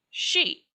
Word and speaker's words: Sidhe: supposed to be spelled s-i-d-h-e is actually pronounced she some people put two